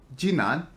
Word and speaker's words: 直男: So what we're really talking about today is this phenomena called Jinan, right? That's Yeah. that's the right pronunciation.